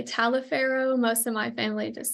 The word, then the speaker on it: Taliaferro: Taliaferro. Some people say Taliaferro, some people just say Taliaferro. Most of my family just says Taliaferro, kind of without that A.